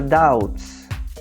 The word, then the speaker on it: doubts: Nós temos agora doubts. Doubts. Tá? Esse B não é pronunciado.